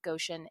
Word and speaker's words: Goshen: rivers and they live as grateful neighbors in Goshen Indiana now Shannon first did I pronounce Goshen correctly you did it's perfect I